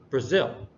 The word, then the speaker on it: Brazil: we emphasize it more the second one is Brazil Japan and so it's this is done because the second syllable is is focused on more uh the third one